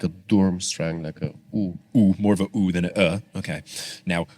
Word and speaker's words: Durmstrang: Now, something that I mentioned here and I've been saying durmstrang apparently incorrectly because it says the pronunciation of durmstrang is dormstrang d o o r m strang.